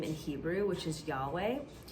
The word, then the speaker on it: Yahweh: in Hebrew, which is Yahweh. When you pronounce it as it's intended to be pronounced in Hebrew, it actually mimics the sound of a breath.